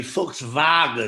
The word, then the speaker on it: Volkswagen: What you guys say, it's really Volkswagen. Yeah, okay? Everyone's saying it wrong.